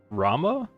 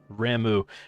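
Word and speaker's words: Ramuh: I have never pronounced that primal Ramu. I think I've always called it Rama? I guess they all sound kind of weird, don't they? Ramu. Ramu reminds me of Shamu, the killer whale.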